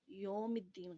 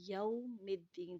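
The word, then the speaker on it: يوم الدين: یوم الدین، تھوڑا سا آواز کو گھماتے ہوئے آگے تلفظ کرنا ہے۔ مالک یوم الدین، ایاک نعبد و ایاک نستعین، ٹھیک ہے؟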